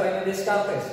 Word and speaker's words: René Descartes: Tulisannya sini René Descartes, tapi jangan baca René Descartes, kelihatan cupu ntar. Bacanya René Descartes.